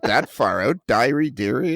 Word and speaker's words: Deary: Is it Deary? Am I saying your last name right? Is it Deary? It's not, but I don't bother about correcting anyone. Well, what is the correct pronunciation? Diary.